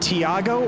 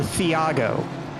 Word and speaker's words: Thiago: It's Thiago, but in Portuguese the H doesn't exist at all. So Thiago, like a CH? Is it Tiago or Thiago? if you just ignore the H, you probably pronounce it better.